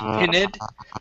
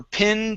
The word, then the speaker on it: pinned: only one you missed you said pinid okay so um let's see okay we're pinned to the board we're pinned to the board more pinned to the board okay one more time give me a short eye instead of peened pinned we're pinned to the